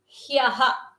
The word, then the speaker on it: ಹ್ಯಃ: To ha there is a yakara, that is also a samyuktakshara, and there is a visarga, so it should be pronounced as hyah, hyah, hyah, yesterday.